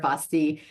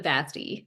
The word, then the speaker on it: Vasti: be here with Vasti. Am I saying that right? So my family pronounces it Vasti, like Vasti. rhymes with nasty, which regrettably, alas, is the only word in English that rhymes with Vasti.